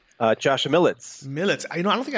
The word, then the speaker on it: Militz: how do you say your name Josh millets millets I know I don't think I ever knew